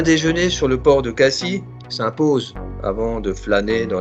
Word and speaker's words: Cassis: Attention, on prononce Cassis.